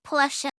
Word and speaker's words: Porsche: You can tell he is German because in English you don't pronounce the E. Yeah, but it's a German word, so of course we pronounce it correct. Porsche.